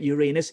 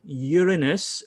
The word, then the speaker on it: Uranus: know that the planet Uranus isn't actually pronounced Uranus it's actually Uranus and it's named after the Greek god of the sky uranos you see educa uh